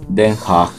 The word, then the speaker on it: Den Haag: Nuestra historia comienza en la tercera ciudad más grande de los Países Bajos, después de Ámsterdam y Rotterdam, La Haya, o como se pronuncia en neerlandés, Den Haag.